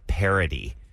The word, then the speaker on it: parity: spelled like a pear. You need everything to be even numbers. Not paring it down, but a pair of pants.